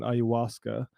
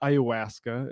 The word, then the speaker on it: ayahuasca: Joshua Con Russell on ayahuasca. Not ayahuasca, as my North Dakota ass likes to pronounce it.